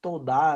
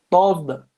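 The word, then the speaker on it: תודה: Escreve todá aí, mas em hebraico se pronuncia tovda.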